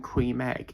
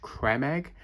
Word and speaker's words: Creme Egg: You know, for years we've all been saying cream egg. It's actually pronounced creme egg because someone's Tik Tok was actually pointing out that it doesn't actually spell cream. It's creme.